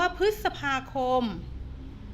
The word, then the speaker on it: พฤษภาคม: มี คำ เพิ่ม เติม เอ่อ อ่ะ คำ ว่า พฤษภาคม พฤษภาคม ก็ อ่าน ว่า คะ พลีส สัก พา